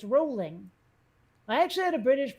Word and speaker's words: Rowling: face um JK rolling it's not Rowling it's rolling I actually had a